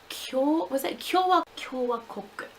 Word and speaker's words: Kyowakoku: Kyowakoku. There we go, I got it. Anyway, it's pretty much Donguri Republic. It's the Studio Ghibli merchandise store, and or Studio Ghibli, I should say. Oh dear. Donguri Kyowakoku, or the Donguri Republic one, which is like